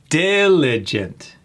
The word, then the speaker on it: diligent: Diligent. Emphasis on that first syllable. Diligent. Hardworking and careful in completing tasks. Diligent. Not diligent. Diligent or diligent because we see an e. That's another I sound just like abundant.